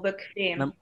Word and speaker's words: bequem: bequem, bequemer, Comfortable. comfortable, জি, comfortable, bequem। Ma'am, এটা উচ্চারণটা কি ঠিক আছে? বেকুয়েম। আমি আবারও প্রনাউন্স করি, bequem। এটা কিছুটা ডাব্লিউ এর মতো প্রনাউন্স হয়, bequem।